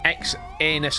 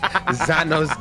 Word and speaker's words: Xanos: Come on, ex anus gaming. Ex anus. Thank you. Xanos gaming. What the fuck is that? Pronounce ex anus. Nah, it's Xanos gaming.